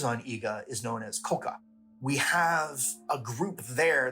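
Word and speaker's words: 甲賀: GA or k k the local pronunciation is Koka so that's what I'm going to go with we see these two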